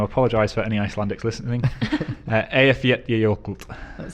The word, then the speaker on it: Eyjafjallajökull: It's something along the lines of, and I'm going to apologise for any Icelandics listening, Eyjafjallajökull.